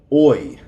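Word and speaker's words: hoy: number one word one oi oi remember the H is silent oi means today today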